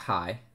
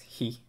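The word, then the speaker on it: へ: we do he not it's not high it's he remember all the vowels are short that's just it's almost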